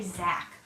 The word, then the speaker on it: Zack: By the way, when you say my name, just say Zack.